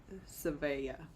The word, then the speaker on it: Savea: So is it SVEA is exactly like it looks. Savea. Okay. She says, love you too. And she told me how to pronounce it.